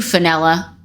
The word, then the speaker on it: Fenella: I love you, Fenella, for your name that rhymes with vanilla, for you.